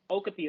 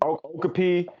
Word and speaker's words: Okapi: Okapi, that's how it's pronounced. Okapi.